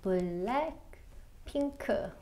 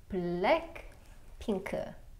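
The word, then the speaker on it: 블랙핑크: It is Blackpink, and there's two dils in their name, and it's gonna be four syllables, so Blackpink, which means four blocks. B-l, and then l-ek, lek. P-i-n, pin, k, k. Blackpink.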